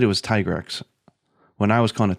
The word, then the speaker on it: Tigrex: ago, said on Twitter, no, it's supposed to be like a T-Rex, like a Tyrannosaurus Rex. So what did he call it? I think he said it was Tigrex.